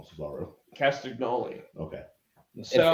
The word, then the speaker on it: Castagnoli: I like Claudio Castagnoli.